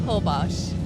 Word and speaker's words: Holbox: Is that how you pronounce it? Yeah, Holbox.